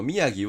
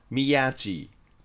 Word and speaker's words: 宮城: もう 1 つ字に関しては宮城県の宮城を宮って本当は義と読ませたいのをアメリカ人が G と読んでしまった例もあります。